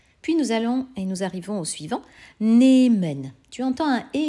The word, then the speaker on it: nehmen: C'est pourquoi nous avons nehmen, N-E-H.